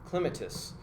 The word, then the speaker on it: Clematis: an interesting side note on that there's different pronunciations of Clematis somebody from the East Coast is clément Asst yeah so it's just I just kind of